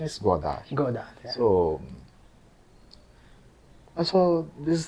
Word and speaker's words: Godard: In English, we are call him Godard. Yeah, in Tamil Nadu also they call Godard, but the French pronunciation is Godard.